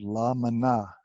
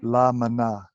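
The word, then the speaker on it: La Maná: I first went there is spelled how la and there's a space and there's ma na with an accent at the end it's a Spanish spelling ok llama na okay so when I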